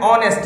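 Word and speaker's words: honest: Manoj is एन ऑनेस्ट मैन। अब देखिए ऑनेस्ट की स्पेलिंग एच से शुरू है, लेकिन चूंकि बोलने में उसका साउंड प्रोनाउंसिएशन उसका ऑनेस्ट ओ आ रहा है, इसीलिए आपने ऑनेस्ट के पहले एन का यूज किया।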